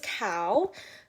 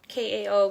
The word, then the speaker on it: Kao: is uh dr cow um kao pronounced like the animal and i'm pretty excited